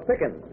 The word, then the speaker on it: Pickens: name's keila this is miss lola pickens rhymes with chicken or a scream i